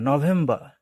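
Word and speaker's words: November: হচ্ছে উচ্চারণ তারপর নভেম্বর তারা কিন্তু আর টাকে উচ্চারণ করে না নভেম্বর নভেম্বর নভেম্বর আর টাকে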